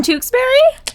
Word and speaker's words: Tewksbury: made it really oh my gosh you're from tewksbury tewksbury massachusetts nailed it yeah okay that's the right one i couldn't see it for a second uh so for those of you who don't understand what's happening tewksbury you say tewksbury tewksbury is spelled t-e-w-k-s-b-u-r-y this